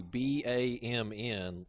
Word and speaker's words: BAMN: name, it would be BAMN. So it'd be like, but the N is silent, so it's like kind of like Team it's Bam? like Team Bam.